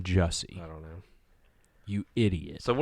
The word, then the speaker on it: Jussie: It's not Jesse. It's Jussie. It's Jussie Smollett.